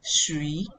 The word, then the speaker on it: shui: Then the second one is shui, shui, shui. So the U is silent and the tone is on the I.